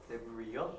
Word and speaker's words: Debris: Debris요? S를 묵으며. 이거 아마 내 기억이 맞다면 프렌치, 불어에서 왔을 가능성이 높은데, 이거 부스러기란 뜻이야.